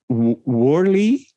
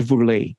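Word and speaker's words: Woerlee: I think in English you would say Worley. Oh, okay. Gerard Worley, I think you would pronounce. But in Dutch it is Gerard Vourlet.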